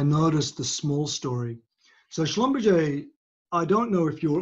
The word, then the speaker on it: Schlumberger: so so the word schlumberger would be the german pronunciation of the schlumberger name and it but but in the oil and gas industry it's pronounced schlumberger because americans americans yeah americans can't